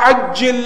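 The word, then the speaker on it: عجل: We don't pronounce the ayn. Say Allahumma ajjil with the alif. Ajjil with the alif means slow down. Total opposite.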